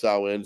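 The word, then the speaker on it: Samhain: before Halloween it's called sa in well it's pronounced sa in Sam Hayne which is like the original Halloween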